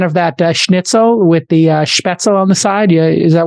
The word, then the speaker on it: Spätzle: Spätzle is how you say it?